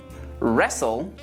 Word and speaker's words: wrestle: And the other pattern I mentioned is that of words where W is before an R. For example, wrap, wrench, wrestle, wrinkle, wrist, right, wrong, wrath, wreck.